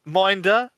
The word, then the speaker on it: M1NDR: Minder, check him out.